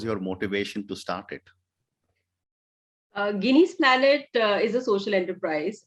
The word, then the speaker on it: Ginny: I was calling it Ginny. It's actually Guinea.